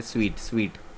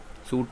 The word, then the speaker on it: suite: इसका जो प्रोनाउंसिएशन है वो है स्वीट। सूट नहीं है इसका प्रोनाउंसिएशन है स्वीट। सॉरी, ये इसका स्वीट प्रोनाउंसिएशन है। A set of connected rooms, especially in a hotel. देखो सूट और स्वीट।